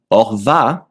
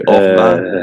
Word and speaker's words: Horvat: And then the last name, you don't pronounce the H at the beginning of a word.